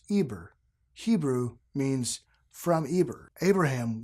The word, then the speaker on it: Eber: word ever the word hover in English is pronounced Eber Hebrew means from Eber Abraham was the sixth